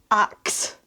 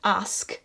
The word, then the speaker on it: ask: worked up and crazy, axe. Yes. Instead of ask. Yeah. And what's really interesting about that one, it says here, the pronunciation ask is now considered standard, and the spelling ASK